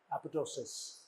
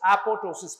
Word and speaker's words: apoptosis: There is death of the cell, irreversible cell injury, which is manifested by necrosis and apoptosis. Manifested as necrosis and apoptosis. It's apoptosis. P is silent. Second P is silent.